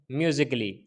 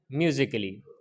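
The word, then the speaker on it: musically: For example जैसे रोमांटिकली, क्रिटिकली, फिजिकली, म्यूजिकली, इसके अंदर डबल एल वाई से पहले ए आया है, ये साइलेंट है। रोमांटिकली पढ़ेंगे इसको, क्रिटिकली, फिजिकली, म्यूजिकली।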